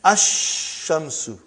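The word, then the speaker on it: الشمس: And then ash-shamsu.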